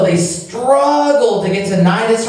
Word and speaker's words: Cnidus: arrived with difficulty off Cnidus, the C is silent in this word, The wind not permitting